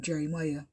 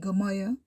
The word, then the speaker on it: Jeremiah: up here to name jeremiah he went all through school with people calling him gamaya because nobody didn't know to pronounce the name did he get big